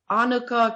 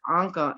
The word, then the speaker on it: Anca: or whatever um he starts off the show like annika came and he looks at me he's like oh how do you say your name and i was like anka and in a very